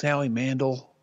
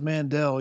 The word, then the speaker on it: Howie Mandel: Did you know his name's actually pronounced Howie Mandel? I didn't know that, but that's even funnier. It is. If you thought it was Mandel, you're a victim of the Howie Mandela effect.